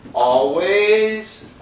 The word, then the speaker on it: always: 올 발음하지 말고 it's an A-W-L.